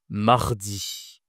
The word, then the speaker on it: mardi: Va voir ma vidéo sur l'alphabet si tu as du mal à prononcer les consonnes comme le R, comme un tigre mardi.